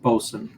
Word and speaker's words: boatswain: As a side note, bosun, again, it's phonetically it's boatswain, um, but it's pronounced bosun.